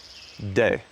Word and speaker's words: De: The Taoists call this De, or it's spelled like Te.